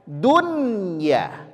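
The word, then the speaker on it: دنيا: Dari kelihatan dari segi penulisan seharusnya ini kita baca dya. Betul. Dari segi penulisan kita baca buy. Tapi tidak membacanya dunya diizharkan dunya.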